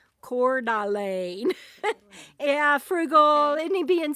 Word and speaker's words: Coeur d'Alene: She says it's pronounced Coeur d'Alene. Coeur d'Alene.